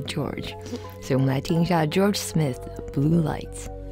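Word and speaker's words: Jorja: 然后这首歌我自己蛮喜欢，但是陈柏希排出来的时候，其实我从来都不知道他的名字叫 George Smith，然后他的英文拼法是 J-O-R-J-A，所以你光看靠的时候，你可能会就是几乎会情不自禁的想要发出 Georgia 的发音，但其实是 George。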